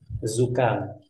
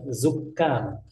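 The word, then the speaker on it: زكام: Perhatikan cara membacanya, zukam. Ya, karena ada sebagian orang bilang zukam. Kafnya itu tasydid. Padahal tidak ada tasydid, ya, zukam seperti itu.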